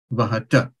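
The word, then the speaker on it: वहथ: Yuyam vahata. Vahata. So it's tha, where your tongue kind of hits with force behind your teeth. Yes. So, tha, yeah? Yes. So, that will be the accurate pronunciation.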